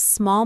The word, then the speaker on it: small: The L sound is soft, almost silentish, like small.